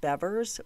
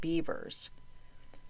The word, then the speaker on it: Bevers: I thought because of the spelling, her last name would be pronounced Bevers, but all the press conferences I watched that were held by police and interviews with friends all pronounced it Bevers.